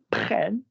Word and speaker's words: prennent: Nous prenons, vous prenez, ils prennent, rhyming with ben, ten, men, zen.